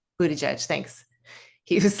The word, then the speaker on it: Buttigieg: Buttigieg. Buttigieg, thanks.